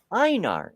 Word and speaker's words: Einar: Deviant Outcast says it's pronounced Einar. It's just the Danish or Norwegian spelling, and the last name is German.